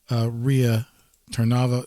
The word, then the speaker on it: Rea Tarnava: Once again, I just want to welcome back from the break, Rea Tarnava.